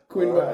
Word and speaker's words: quinoa: Quinoa.